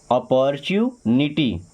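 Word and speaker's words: opportunity: अ पर chew अपॉर्चुनिटी अपॉर्चुनिटी क्या पढ़ते हैं?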